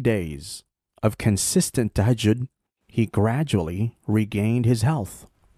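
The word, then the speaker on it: تهجد: And Amina Roche talked about something called tahajjud. I called it tajahun. I didn't know how to pronounce it. So tahajjud. Tahajjud, yes.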